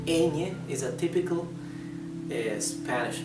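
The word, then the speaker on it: eñe: typical the Spanish letter how is it pronounced I know this sound does not exist in English but it does exist in Italian in Italian you produce the same sound with a GN okay new like in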